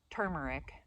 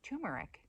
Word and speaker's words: turmeric: Now I said turmeric all my life, thinking I was pronouncing it right and I was correcting everybody, but it's actually turmeric, and there's probably another pronunciation as well.